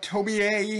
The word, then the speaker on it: Tomie: it was tomi t-o-m-i-e there's an e at the end in japanese it's always sounds like an a um so they just kept the same thing they didn't change it okay but tommy a has i think eight